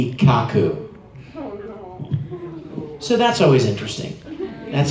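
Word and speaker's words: Ikkaku: ikaku from Bleach right ikaku stress on the first syllable ikaku right that's what they told me when we started the show and then 300 episodes later the director goes okay it's ikaku now I'm like what what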